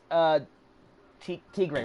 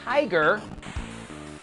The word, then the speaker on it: Tigray: Tigray, right? Tigray, right? Please tell me I'm pronouncing that properly. Oh. Tigray, okay, good. Because it looks like it would be pronounced tiger.